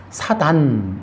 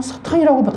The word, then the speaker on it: 사탄: 여러분 가끔씩 여러분이 성경 보신 분들은 사단 이러잖아요. 사단이 뭐예요? 그 사탄은 뭐고 사단은 뭡니까? 그러니까 이 번역들이 너무 웃긴 거예요. 저는 사탄이라고 발음합니다.